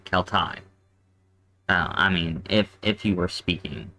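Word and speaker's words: Celtae: be Kel Thai because this combination right here with the A and the E is pronounced I.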